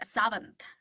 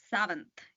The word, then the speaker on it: Sawant: I say it as Savant. So, that's how you pronounce my own name. Savant. Yes. Savant. Almost like a the W is almost like a very soft V.